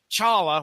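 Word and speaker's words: T'Challa: have the black panther at last Challa which is how i'm going to pronounce it tonight by the way t silent charla battles the Klan and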